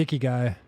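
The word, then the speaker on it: ikigai: japanese have something kind of similar called the icky guy yes this is how you pronounce it yeah yeah it's the the reason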